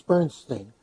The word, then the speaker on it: Bernstein: Bernstein Bernstein none his you know there are two pronunciations of that name but Wells it's Bernstein miss mr.